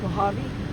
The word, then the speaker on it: Mojave: How do you pronounce it? I I said Mojave. Mojave.